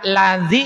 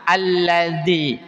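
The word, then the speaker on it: الذي: Dibaca lazi atau alladzi atauadzi. Alla alladzi. Kenapa dibaca alladzi?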